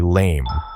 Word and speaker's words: lame: This tool is identified as a lame, pronounced lam, a specialized utensil used by bakers.